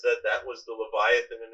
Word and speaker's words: Leviathan: So Leviathan, which in Hebrew is Leviathan or Leviathan in the Ashkenazic pronunciation, is mentioned, of course, in